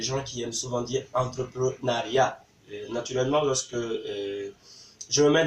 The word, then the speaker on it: entrepreneuriat: Par contre, on ne dit pas entrepreneuriat, on dit entrepreneuriat. Donc, entrepreneuriat, en fait, ressort du mot entrepreneur.